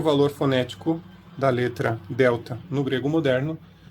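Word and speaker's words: δέλτα: e esse símbolo fonético representa o som do th do inglês que a gente tem na palavra Mother e por exemplo ou o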